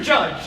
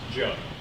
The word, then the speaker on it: Judd: Judge, sir, clearly now you can see that Lee is not the sharpest spoon in the microwave. Mr. Terry, I'll have you know, my name is pronounced Judd. It's Polish.